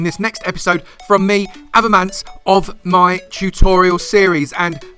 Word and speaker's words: Avomance: It is Avomance, not Avomance, Avomance or Avo. You can call me Avo if you want, but Avomance, that's my name.